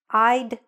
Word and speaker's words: I'd: I'd worked. You'd visited. Make sure when you're saying it, that we can hear that D sound.